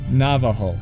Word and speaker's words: Navajo: white man i can't say either but it's pronounced navajo navajo oh how about the vowel what is